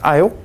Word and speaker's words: El: Okay, and Michael is a name which means one like ale. You might say, who's ale? We might have seen the word E-L. It's pronounced ale.